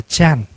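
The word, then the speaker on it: 禪: Thì người Hoa đọc là Chan.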